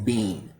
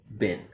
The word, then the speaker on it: been: lot of students saying bean, which for my ears is a type of food. So instead of bean, a native speaker will make the reduction and say bin.